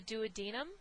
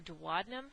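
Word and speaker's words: duodenum: The douadinum or dadum, however you want to pronounce it, both are okay.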